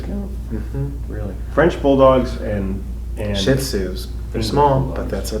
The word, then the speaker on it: Shih Tzu: How did you pronounce that? Shih Tzu. Shih Tzu. In South Texas, they pronounce it different, but Shih Tzu.